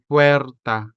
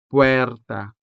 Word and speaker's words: puerta: So, we say puerta for door. fuerza for force. la mesa to mean table. and papel to mean paper. As you can see, these words are spelled with the letter e, and this letter e is sounded with the vowel e sound.